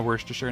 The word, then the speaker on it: Worcestershire: like everything's like worst no Worcestershire no it's like um like Shire is pronounced sure there's a lot of